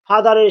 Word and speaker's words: father: ডাব্লিউ আছে, অর্থাৎ consonant sound আছে, তাই ফাদারের শেষে আর এর উচ্চারণ হবে না। I think you R clear. অর্থাৎ ফাদারের শেষে আর আছে, যার জন্য পরের ওয়াজে আছে হচ্ছে কনসোনেন্ট, তাই ফাদারের আর উচ্চারণটা হবে না।